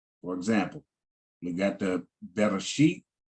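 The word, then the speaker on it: בראשית: For example, we got the Bereshit, pronounce it as Bereshit, and then they translated it in English, in the beginning.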